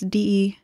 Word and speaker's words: Dion: I might be pronouncing that right. It's DEON. Dion, Dion.